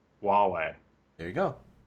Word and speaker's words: Huawei: pronounce this Huawei Huawei no h is silent huwei Huawei there you go H